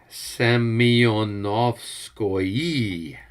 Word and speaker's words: Semyonovskoye: And Albert, it's pronounced Semyonovskoye. Just get it right next time. Semyonovskoye. Okay. So, Right. at least that's how it is pronounced in the back of the book.